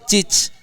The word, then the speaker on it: chic: Karena gaya ini identik dengan kesan chic. CHIC apa Bang bacanya?